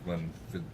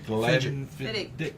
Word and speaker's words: Glenfiddich: This show is brought to you by Alec Bradley and their co-sponsor, Glenfiddich.